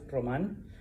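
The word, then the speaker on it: Román: Now, my first name is Roman, all right? En español, Roman, all right?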